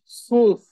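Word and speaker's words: zwölf: 12 হ্যাঁ আবার হচ্ছে সোল্লফ কনফিউজড হওয়ার কিছু নাই সোল্লফ বারবার শুনবেন এটা বাসায় এই যে মাঝখানে ওমলাউড থাকার কারণে উচ্চারণটা একটু চেঞ্জ হচ্ছে টেন আচ্ছা সেন সেন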